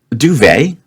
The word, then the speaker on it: duvet: Duvet. Yeah, duvet's not bad. We do not hear the T there, do we?